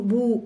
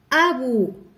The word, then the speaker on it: أبو: إذا هنا عندنا أبو، إذا أبو، إذا ما يمكنناش ننطقها بدون همزة، ما يمكنناش نقول بو، لا، أبو.